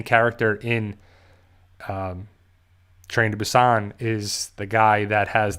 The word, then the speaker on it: Busan: or trained to busan it's like busan is how they say it but it just sounds better trained to be sane